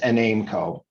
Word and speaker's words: Enaimco: But it is enaimco for anyone wondering exactly how to pronounce it.